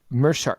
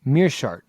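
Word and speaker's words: Meerschaert: kristoff jotko takes on gerald uh mercer mirsha i can never say his name meershart correct thank you that's the wrong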